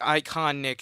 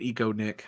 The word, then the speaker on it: Icon Nick: It's just like Icon Nick is his username there. Wow, you actually said it right. When I I first did? saw it, I thought it was Eco Nick.